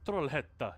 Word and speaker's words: Trollhetta: Trollhätta. Yeah, I always say it like that exactly because of what Moose is saying. The Swedish city of Trollhättan.